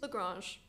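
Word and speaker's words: La Grange: Lagrange. All right. Yeah, it's Lagrange. fine. I mean, not the French.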